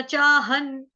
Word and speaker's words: चाहं: ह के ऊपर बिंदी जो है, अनुस्वार है, उसका उच्चारण होगा हलंत न से, चाहन। क्यों होगा न से? क्योंकि यहाँ पे है त, थ, ध, ध, न, तो इसलिए यहाँ पे आ गया आधा न।